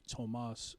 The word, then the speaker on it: Tomas: It was supposed to be Tomas, which without the H, so Tomas.